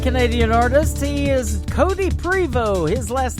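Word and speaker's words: Prevost: artist he is cody privo his last name is p-r-e-v-o-s-t the t is silent mr cody prevo and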